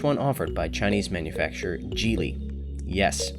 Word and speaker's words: Geely: and the largest one offered by chinese manufacturer gili yes it's pronounced jili not gili jili has been making waves in the automotive